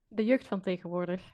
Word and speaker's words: De Jeugd van Tegenwoordig: can't pronounce their name, you're gonna have to pronounce it. What's the hip hop band called? Can you say it? De Jeugd van Tegenwoordig.